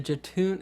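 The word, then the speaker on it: Jötunn: Well, can we talk about the Jatoon? Is that how you say it? Jatoon? Yeah, that's what I wanted to talk about it. That guy. The monster. Jotun.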